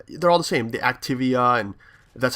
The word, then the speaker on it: Activia: it and now they're all the same the activia and that's how you pronounce it and all those yogurt commercials are